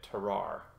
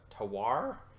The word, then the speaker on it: terroir: Hood region of Oregon, giving this a definite terroir. How do you pronounce that word? Terroir?